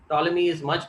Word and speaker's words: Ptolemy: this, something called as Ptolemy's theorem. This P is silent. Ptolemy's name, if you remember, was there in the beginning in the historical timeline. Ptolemy is much before Brahmagupta, and he gives this particular theorem.